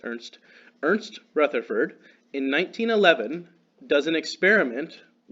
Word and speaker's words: Ernst: But Ernst Rutherford, they spell it Ernest, his name is Ernst.